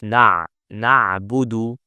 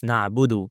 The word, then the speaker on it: na'budu: This dal has a dhamma. So don't make it sukoon. Some people make it like this. Na'bud. It's not na'bud, it's na'budu. And on the other hand, don't add waw mad. So don't say na'budu. No, it's just na'budu wa.